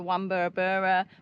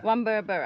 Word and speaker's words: Wamburabura: or four hours the wur which is the one that we got that's definitely how you say it wur I'm pretty sure that's